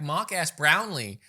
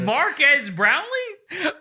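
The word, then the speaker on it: Marques Brownlee: In fact, Mark S. Brownlee has done many... Sorry, that's how Will Smith pronounces it. Marquez Brownlee?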